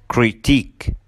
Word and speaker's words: critique: Number 7 endings with IQUE. الكلمات اللي بتنتهي ب IQUE بننطقها كمان long E. فبنقول unique, boutique, critique.